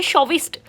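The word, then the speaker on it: chauvinist: शोविस्ट और मैंने pronunciation mention भी किया ताकि आप भी गलत प्रोनाउंस ना करो। शोविस्ट शोविस्ट के अंदर विन जैसी कुछ साउंड आ रही है।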